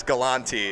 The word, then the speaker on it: Galante: So I think that when my grandmother got into the mix, she changed the pronunciation to Galante so that we wouldn't be associated with the Galantes anymore, but yes, Galante is the name.